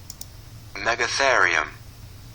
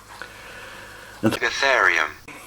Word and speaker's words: Megatherium: will insert a clip right now how to pronounce it megatherium megatherium is the name for a prehistoric ground slot